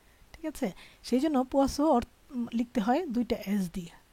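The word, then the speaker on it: poisson: জ উচ্চারণ করতে হয়, কিন্তু যখন আপনি দুইটা এস দেখবেন তখন আবার এই সয়ের উচ্চারণ হবে।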